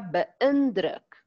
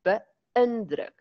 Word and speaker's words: beïndruk: Ek is baie beïndruk. Daar's 'n deelteken op die i, want dit wys vir ons 'n ekstra lettergreep. Beïndruk. As daar net 'n kolletjie op was, sou dit gewees het beïndruk.